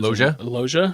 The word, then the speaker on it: Loggia: Loggia? Yeah, Robert Loggia.